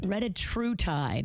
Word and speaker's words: retatrutide: If you're in the weight loss game and you want to get the biggest and the best, how do you pronounce it again? Retatrutide? Retatrutide.